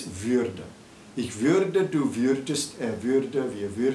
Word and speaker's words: würde: And you add an umlaut, which of course changes the pronunciation, and it's würde.